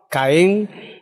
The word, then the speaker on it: Caen: Caen, es decir, que de mi ciudad natal, Jaén, le podemos sustituir la J de Jaén por una C y ya tenemos la ciudad de Caen, la pronunciación, y sin embargo Jaén, con respecto a Caen, tiene un acento escrito.